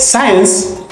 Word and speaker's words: science: the silent number eight science in science C is silent number nine cents also